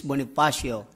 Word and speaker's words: Bonifacio: Philippines by the way my name is bonasio it's hard to pronounce Filipino names but don't forget that I'm skinny bony that's my name you know I noticed